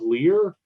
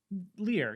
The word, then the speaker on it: Lir: Is it pronounced of Lear? L-I-R? Lear. Yeah, the Swans of Lear.